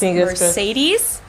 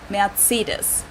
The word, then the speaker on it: Mercedes: So most Americans call this Mercedes. In German, we pronounce it Mercedes. So Mercedes I'm totally versus wrong. Mercedes.